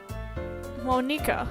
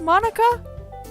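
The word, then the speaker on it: Monika: really doesn't wipe so your name is supposed to be pronounced Monica I thought and I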